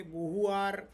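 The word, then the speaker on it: Beauvoir: ती तीन महत्त्वाची पुस्तकं सिमोन बोहार आता हे बोहु आर किंवा बोहा असे वेगवेगळे उच्चार त्याचे केले जातात बी इ ए यु व्ही ओ आय आर असं फ्रेंच स्पेलिंग आहे ते आणि त्यामुळे उच्चार त्याचे वेगळे वेगळे आहेत तर सिमोनॉन द बोहार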